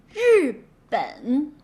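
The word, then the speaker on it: 日本: Okay, so when you add R, just simply voice it. Feel the vibration on your vocal cord. Zh, zh, zh. Jacques, Asia, and measure, zh, zh.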